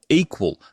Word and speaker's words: EQL: Andrew Lip is the CEO and co-founder of Equal, that's EQL, pronounced equal.